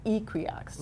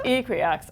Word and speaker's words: Equioxx: They say Equioxx. Ooh. So I think let's all move forward. I think we've been saying it wrong, Dan. All right, so it's Equioxx.